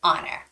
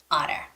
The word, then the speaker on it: honor: also the word honor because the H has no sound it shouldn't be pronounced so it's not honor but it's honor honor no h sound okay